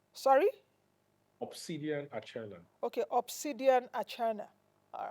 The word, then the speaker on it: Archenar: obsidian or China sorry obsidian a okay obsidian atna all right yes I hope I don't Mur